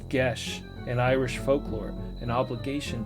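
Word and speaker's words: geas: what I speak hottest ghost I ever seen pronounce GES an Irish folklore an obligation to or prohibit uh magically imposed on a person prohibition sorry Bound by GES pette she's quite a lovely girl although a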